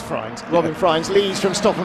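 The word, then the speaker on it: Frijns: That is how you pronounce Friens. Fridgens. Yeah, no, it is Friens.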